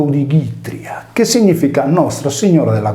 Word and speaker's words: Odigitria: Il nome Itria è inserito nel più antico Odigitria, pronunciato Odigitria, che significa Nostra Signora della Guardia.